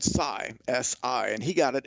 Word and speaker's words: Sy: but i prefer to go by psy if you don't mind and yeah it's when